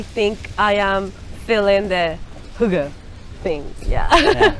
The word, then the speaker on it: hygge: They are going to tell us a little bit more about the hygge. The hygge.